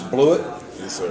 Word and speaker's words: Bluiett: his name is proper pronunciation is blew it right blewett joins us and he's